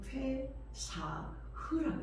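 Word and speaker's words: פסח: 이 유월절의 히브리식 발음은 페사흐라고 했습니다.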